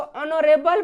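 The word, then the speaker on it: honorable: लेकिन ये H silent रहेगा, ये एच क्या रहेगा?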